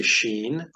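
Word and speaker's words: שׁ: but these letters here this is a Sheen and that has an sh sound such as in he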